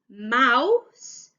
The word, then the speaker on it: mouse: word now a little tiff there is a silent letter at the end of the word mouse and it's an e so mouse but we've got an f at the end